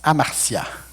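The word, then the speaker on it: ἁμαρτία: » Le mot péché en hébreu se prononce amartia.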